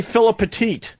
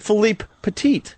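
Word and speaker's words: Philippe Petit: Most people say Philip Petit. So, I purposely was trying to say his name right. So, I said, "Philipe Patit."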